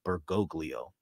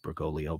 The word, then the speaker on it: Bergoglio: he is enthusiastically following bergoglio as Alman calls him it's actually pronounced bergolo but I just cannot get that interpretation out of my mind because of Altman but okay whom we